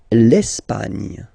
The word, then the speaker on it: Espagne: L'Espagne. L'Espagne. Okay, don't insist on the final E because basically it's not pronounced.